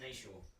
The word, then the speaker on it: Nietzsche: Yeah, it's Nietzsche. He's German, so it doesn't really matter. Yeah. It's pronounced Nietzsche.